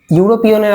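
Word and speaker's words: European: কারণ ইউরোপিয়ানটাতে ইউরো প্রোনাউন্সিয়েশনটা আসছে কি, এটাতে ইউরো, ওয়াই ইউ আর ও, ইউরোপিয়ান, প্রথমে কনসোনেন্ট আসছে, যার জন্য কি হয়ে যাচ্ছে এখানে এই সাউন্ডটা কনসোনেন্ট সাউন্ড এসে যাচ্ছে, যার জন্য এটাকে কি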